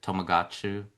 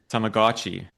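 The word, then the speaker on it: Tamagotchi: Tomagotu. How do you say it? Tomagotchi.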